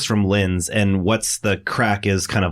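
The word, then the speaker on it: craic: But anyway, I said crake because that's how it's spelled. I remember now. And several people tweeted and said, girl, it's crack.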